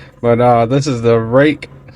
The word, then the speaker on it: Ruike: uh this is the rake that's pronounced rake from everything I've read and heard on it uh Believe It or Not rake knives 801 p801 as